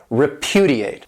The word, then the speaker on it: repudiate: This verb has 4 syllables, and the stress is on that second syllable, repudiate.